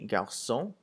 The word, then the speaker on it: garçons: So if you look at the example of le garçon and les garçons, garçon without an S and garçon with an S sounds exactly the same.